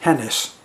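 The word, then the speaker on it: Genis: her parents adolfo and lucina genus pronounced hennis sorry for the first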